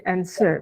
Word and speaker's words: answer: Bere Bere Hai Terus yang ini answer b nya itu tidak usah dibaca jadi encer bekerja yang berikutnya difficult